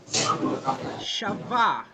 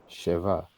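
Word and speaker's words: שבע: The accent is on the first syllable, and we'll learn that in some subsequent lessons. This vowel, the segol, which makes the S sound like elfu or endelea, is an accented vowel. So actually, the pronunciation is sheva.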